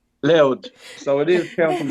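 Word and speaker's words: Louth: it's a place called Rd County loud It's pronounced l so if you see it written down it's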